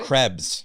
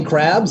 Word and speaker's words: Krebs: Krebs. Krebs? I'm saying it right, Krebs? It is Krebs, Yeah. but people say crabs and it's offensive.